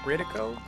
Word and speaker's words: Brio: you Brio brid Brio am I saying your name right Brio Brio uh in the case it is great to see you no one does that you pronounced it correctly no one does that